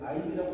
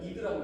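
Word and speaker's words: id: 프로이트라는 사람이 있는데 아이 사람은 뭐라고 말했냐면 인간의 마음을 세 가지로 나누어 설명했습니다.이 저게 이제 아이디라고 읽는게 아니라 이드라고 읽는 겁니다.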